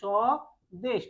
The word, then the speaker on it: স্বদেশ: স্বদেশ জ্বালা তর্ক সপদ আমরা এই শব্দগুলো লেখার ক্ষেত্রে স্বদেশ এই যে তালিব সয় বয় যুক্ত বানান করার সময় লেখার সময় আমরা তালেব স বয় যুক্ত দিচ্ছি কিন্তু উচ্চারণ করার সময় করছি কি সদেশ অর্থাৎ এখানে ব এর কোন অস্তিত্ব নেই উচ্চারণ করার সময় ব